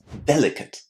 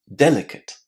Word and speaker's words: delicate: Listen to this one. Delicate. Delicate. What can you hear at the end?